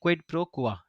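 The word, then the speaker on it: quid pro quo: ठीक है, इसको हम प्रोनाउंस करते हैं क्विड प्रो क्वा।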